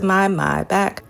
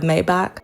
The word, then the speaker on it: Maybach: at that hook pil my back. I love how Pusha says my back instead of Maybach. What is the proper pronunciation for those who buy cars or who are into cars?